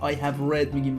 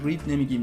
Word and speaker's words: read: توجه داشته باشید بچه، این read اینجوری در واقع تلفظ میشه وقتی که میگه تو حالت PP past participle که میاد. I have read میگیم، read نمیگیم دیگه.